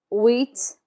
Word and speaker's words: huit: The H is never pronounced in French, so we start with wheat, wheat.